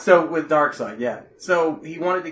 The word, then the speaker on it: Darkseid: So, with Darkseid, yeah. So, he wanted to kill off Batman in the second movie. It's pronounced Dark Seed.